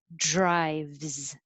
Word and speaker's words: drives: of sounds in it drive with a v and then that um looks like an s but sounds like a z drives 17 is her so